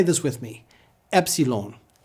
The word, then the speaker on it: Epsilon: ZTA Z ZTA V Epsilon it's pronounced like a short e as in get e English has many